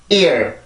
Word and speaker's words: ear: 그래서 I 발음은 이렇게 이중모음 이런 형식으로 나왔을 때는 가장 앞에 있는 모음의 강세가 정확히 들어가고요. 뒤에 있는 소리에서는 이렇게 소리가 풀리게 돼요. 즉 여기에서 성대를 긴장을 시켜주고 뒤에 있는 발음을 할 땐 풀리게 되는 거죠. 그래서 이 발음은 ear, ear, ear 이렇게 발음을 해주면 되고요.